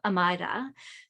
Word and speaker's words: Amayra: Today we have Amayra. Did I pronounce that correct?